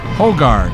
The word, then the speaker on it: Hogard: Number 30, Sharon, and number 20, Hogard. I asked the coach on that one too. I believe that's how it's pronounced.